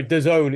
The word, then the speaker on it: DAZN: Um, there, DAZN, it's pronounced.